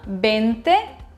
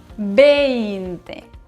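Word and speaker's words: veinte: Souvent, mes élèves oublient de prononcer le I du numéro 20. Ce n'est pas un 20, c'est un 20.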